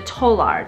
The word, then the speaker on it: Tolar: So he developed the talar or the tolar, depending on how you pronounce it.